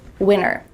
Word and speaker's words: winter: What is happening to the T in the middle of this word? You might hear native speakers say winter with a clear T if they're enunciating clearly and maybe speaking a little slowly. It's fine to do that, but when native speakers speak fast, you're gonna hear winter, winter.